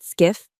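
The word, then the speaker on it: SCIF: Skiff, pronounced skiff, stands for sensitive compartmented information facility.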